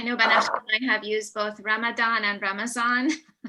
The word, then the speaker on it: Ramadan: i have used both ramadan and ramazan it's the same thing ramadan is closer to the arabic pronunciation and ramazan is how persian say ramadan basically it's the same thing